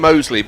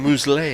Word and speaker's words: Mousley: I'm calling him Mousley because I believe that's how he pronounces his name. Yeah, it's like Mousley, isn't it? Which is it? Mousley.